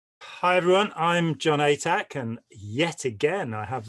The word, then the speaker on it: Atack: Hi everyone, I'm John Atack, and yet again I have the incredible pleasure of welcoming Karen de la Carrière. Hello, John. Atack. Atack, yes, not attack.